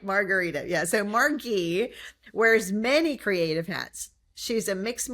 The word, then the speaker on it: Margie: Margie Woods, like margarita with a hard G. I'm sure you get that all the time, right? Margie, probably.